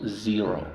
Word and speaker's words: zero: Okay entonces cómo pronunciamos Zero primero la z es Sonora vibración ya dividimos aquí y